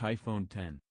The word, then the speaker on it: iPhone X: ditches the home button the iPhone X which is pronounced iPhone 10 will be the only